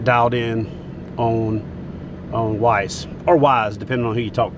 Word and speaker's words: Weiss: around here, it's like Wise. If you're from anywhere else, it's like Weiss. So I'll just default to the way the people who live here should decide how it's said.